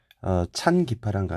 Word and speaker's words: 찬기파랑가: ' 찬기 파랑 가 ' 라고 읽어야 한다 .